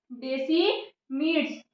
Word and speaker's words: desmids: यहाँ पे स्पेलिंग नहीं दिख रहा होगा तो मैं पढ़ के बता देती हूँ। DESMIDS, डेसिमिड्स, जिसे हम क्या बोलते हैं?